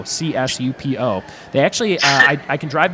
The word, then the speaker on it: Csupo: pronunciation and everything klasky soup oh we got a silent C I guess in soup Oh csupo they actually I can